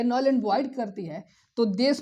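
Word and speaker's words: जुंटा: में military rule लग जाता है और म्यानमार में मिलिट्री रूल दे स्पेलिंग को गौर से देखिएगा ये लिखा है जंता लेकिन म्यानमार में उसको हुता पढ़ते हैं और वहां की मिलिट्री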